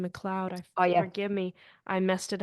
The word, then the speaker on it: McLeod: pronouncing your last name McLoud forgive me I messed it up at the it's not M it's McLoud okay yeah McLoud yeah